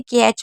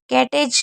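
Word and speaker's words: catch: अगर टी के साथ सीएच होगा तो टी हमेशा साइलेंट रहेगा। जैसे कैच में आप देख रहे हैं टी सी एच साथ में है तो टी को नहीं पढ़ रहे इसे क्या पढ़ रहे हैं कैच कैटेज नहीं पढ़ रहे हैं तो कैच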